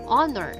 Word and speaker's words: honor: Because in this word, letter H is a silent letter, and therefore the sound that it makes is a vowel. Sound of O, an honor, an hourglass, an honest man.